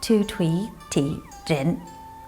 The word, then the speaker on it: Tu Thuy Thi Trinh: My mom's name is Tu Thuy Thi Trinh.